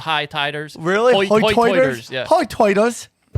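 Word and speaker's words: hoi toider: Hoy-toiters? Yeah. Hoy-toiters. The dialect on this island is sometimes referred to as hoy-toiters, which is their pronunciation of high tide. Hoy-toid on the same side, high tide on the same side.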